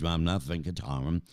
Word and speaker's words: Ramnath Venkataraman: So my special guest is Ramnath Venkataraman, Accenture's Integrated Global Services Lead.